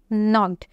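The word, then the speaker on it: knocked: second world है नॉक्ड इसमें के जो है वो साइलेंट है और इसको हम प्रोनाउंस कैसे करेंगे नोड तो इसमें आपने नो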